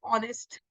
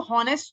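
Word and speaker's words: honest: जो है that is ऑनेस्ट अब इसको नेस्ट तो नहीं बोलते ऑनेस्ट ही बोलते हैं तो ऑनेस्ट जब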